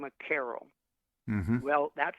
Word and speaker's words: Carol: phonetically, that C in Carol sounds to a K.